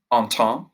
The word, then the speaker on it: Entente: Entente rhymes with ha ha ha. Entente rhymes with ha ha ha, so it's French.